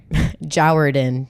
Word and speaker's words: Jourdan: don't know yep how to pronounce my name jard in Jer rhymes with sour just kidding that'd be sick though